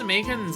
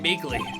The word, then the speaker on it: Meekins: Actually, Officer Meekins at the detention center told us. That poor little doggy. Poor guy. Kept getting his name wrong, calling him Meekly.